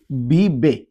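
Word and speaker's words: vive: হবে এল বি বে আপনারা জানেন যে স্প্যানিশ ভাষায় প্রত্যেকটা অক্ষরকে আলাদা করে উচ্চারণ করতে হয় তার মানে এটাকে এটাকে স্প্যানিশে এ বলে না আমরা সবাই জানি তাহলে এখানে আমরা বলব বিবে বিবে সে বাস করে এল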